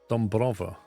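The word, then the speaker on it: Dąbrowa: Dombrova. Is that how you say it? So you say that A is an O.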